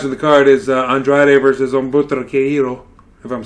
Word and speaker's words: Humberto: I know the H is silent, and it's Humberto.